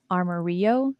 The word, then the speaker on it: Amarillo: créature étrange trouvé au zoo d'amarillo qui est au texas prononcé comme arma rio zoo un qu'avez-vous pensé en